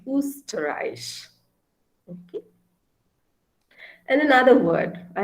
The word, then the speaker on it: Österreich: O umlaut is U. So Österreich. Österreich is the German word for Austria, the country Austria. Okay, the country Austria in German is called Österreich.